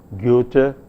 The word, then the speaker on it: Goethe: dramatist his name was Goethe and the in pronouncing the name of this dramatist the vowel involved the the first vowel is a vowel which is a front vowel but said with lip rounding so you say